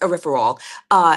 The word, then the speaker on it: erythritol: In the July 14th statement, the researchers said erythritol, yeah, it's pronounced erythritol, made platelets in a research that they did.